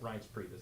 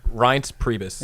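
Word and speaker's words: Reince Priebus: And uh you know um I always say his name wrong but uh Rance Priebus. Is that right? Rance Priebus. Yeah. Right. R Yeah. Say it. Rance Priebus.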